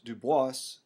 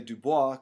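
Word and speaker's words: Du Bois: he wanted to pronounce dubas uh we would say Dubois because We're from south Louisiana that's the actual pronunciation but he liked the pronunciation with the S he was the first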